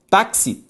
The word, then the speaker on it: táxi: Quando eu olho para a palavra caráter, a sílaba tônica é ra. Táxi, tá.